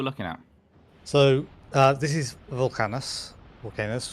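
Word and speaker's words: Vulcanus: So this is Volcanus, how you're supposed to pronounce it.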